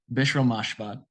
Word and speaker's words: Bishrel Mashbat: This is James Snyder from FilmSnobReviews, and today I have the pleasure of interviewing Bishrel Mashbat, the director. Am I pronouncing your name correctly?